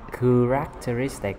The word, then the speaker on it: characteristic: Thì K nè, characteristic là chữ K, đúng không? Ừ, cái này đọc là Christmas, cũng chữ K luôn.